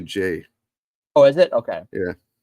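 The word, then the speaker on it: Ghey: So last week in the UK, the Brianna Gay case came back. I might be pronouncing her last name. From what I understand, it's actually Jay.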